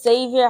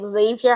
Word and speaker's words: Xavier: name is Xavier some people pronounce my name as Xavier because of the spelling spelling is had yeah my name also sounds like Xavier with a z but it's x-a-v-i-e-r-r instead of z-a-v-i-e-r so thank you for